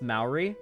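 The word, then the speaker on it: Māori: No, it's pronounced Maori. I've heard, okay, the only place I've ever heard it pronounced is Australians and New Zealanders, and they pronounce it Maori.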